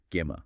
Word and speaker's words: gamma: They also introduce a crucial element called gyo, pronounced gamma. Gamma.